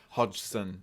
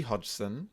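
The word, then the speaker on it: Hodgson: hod hod hod I don't know how to pronounce it hod hoden hod it's h o d g s her name Hodson it is yeah Peggy Hodson a single mother of four reported that her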